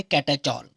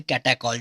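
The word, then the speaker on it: catechol: ही attach है, तो इसका नाम होता है कैटाचॉल या फिर कैटाकॉल, जो भी आप प्रोनाउंस करें।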